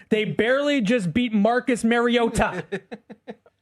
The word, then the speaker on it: Mariota: Um I think it's been said over the years like Mariota. Um which is incorrect and it's pronounced Mariota.